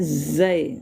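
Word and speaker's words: ز: Kemudian zai. Zai. Zah. Ini tidak sama dengan dalal tadi ya. Zai itu ada tekanan juga bacanya ya.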